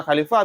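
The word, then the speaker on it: خلفة: 40 unta khali khalifah cara baca khalifah bifathil khail mujamati dengan fatah kha yang bertitik wa kasril lami dan kasrah lam bil fai wabil fai dan dengan fa dan bah unta khali khalifah bacai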